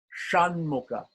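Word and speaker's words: Ṣaṇmukha: that is yes with the dawn under it is pronounced shan mocha shan mocha shan Mooka so here the difference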